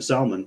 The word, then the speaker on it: Salman: tal and Muhammad bin Salon which I also got to say that's the only time it's okay to pronounce the L in Salmon um yeah they don't